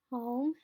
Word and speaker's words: home: Home has the silent E at the end. It has a consonant. It has an O. So our first vowel sound is going to say the long vowel sound of O.